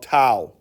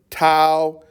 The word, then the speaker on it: tau: this fancy t called tau so you can say tau could be two pi it could be t-a-o i think in the greek symbol but rhymes with cow which is c-o-w but they're not spelled